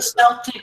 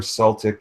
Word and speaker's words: Celtic: as an S okay if a word starts with c okay it's a it's a k yeah right and uh